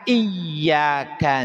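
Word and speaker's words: إِيَّاكَ: Kalau bacaan iyaka na'budu pakai tasdid iyanya, maka tadi maknanya hanya kepadamu ya Allah kami beribadah dan hanya kepadaMu ya Allah kami meminta pertolongan. Tapi ketika dibacanya tanpa iya eh tanpa tasdid, maaf, tanpa tasdid, maka maknanya berubah menjadi hanya kepadamu wahai matahari. Jadi maknanya itu kepada matahari kita menyembahnya. Ini kan menjadi fatal.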